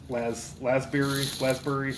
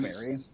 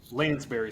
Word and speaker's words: Lansbury: Angela Lasbury, I kind of forget how you say her name. She was really tall too, so Angela they had to do Lansbury. Lansbury.